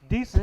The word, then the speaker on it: Dicent: Decent. You know what I'm saying? Spelled Dicent, but pronounced decent.